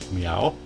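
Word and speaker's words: Myau: party member who is called meow and he's a catlike creature and his name is spelled m y Au U meow and then um you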